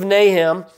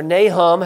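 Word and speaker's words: Nahum: from Jonah in the book of nahem or nahm however you want to pronounce it that tells us a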